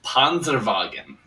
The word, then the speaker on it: Panzerwagen: We do need to point out it's Panzerwagen. Insisted on the German pronunciation of his name, and we have to honor that request, of course, especially when we've got a player like this.